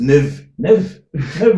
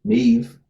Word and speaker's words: Niamh: It's actually Neve, but they said like, but they got half right.